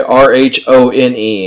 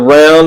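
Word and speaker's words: Rhône: Okay, R-H-O-N-E. And spell that again, R-H-O-N-E. The Round is a river that goes through France, or you can call it the Rhone. Depends on how your accent.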